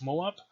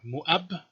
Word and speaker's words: Moab: the ancient kingdom of moab or muab which is what it was probably pronounced like you can see the